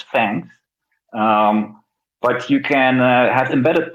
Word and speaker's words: THX: We pronounce it as Fangs.